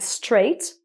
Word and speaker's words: straight: When it's in the middle, most of the time it's silent, like straight, but not all the time.